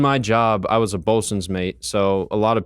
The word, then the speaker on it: Boatswain: And then eventually I was spell that for me. What are you saying? Bosun? Boatswain's mate. Boatswains. So, Got it. Okay. SWAIN. Yeah.